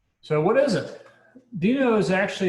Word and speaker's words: Deno: sure how to pronounce it but the official pronunciation is considered dino so that's the official pronunciation so what is it dino is actually it's a it's a run time